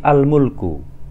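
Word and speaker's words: الملك: lam pada sebuah isim, maka hamzah wasal itu harus selalu diharokati fathah. Tentu jika kita membacanya mengawali sebuah kalimat atau mengawali sebuah kata atau ucapan. Contohnya di sini al-mulku.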